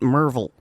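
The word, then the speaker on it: Maryville: I noticed that it's written mville but you pronounced it merville that's because that is how it's pronounced okay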